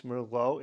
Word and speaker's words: Merlot: you thought of this Merlot if this language doc what your score is and until tomorrow I say a tuteler and cheers hello Merlo rhymes with hello I often think of